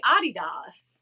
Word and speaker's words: Adidas: That's like we call Adidas, but it's really Adidas. Yes. In Europe.